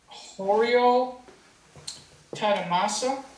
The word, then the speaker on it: 堀尾忠正: The aliens and I, Kuwei Zongzhen, Japanese pronunciation, Horio Tadamasa, have decided to move a sizable part of